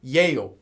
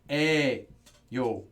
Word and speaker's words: 에요: Now, this pronunciation, however, it is written as 예요. No one says 예요. Everyone says 에요. Just know that.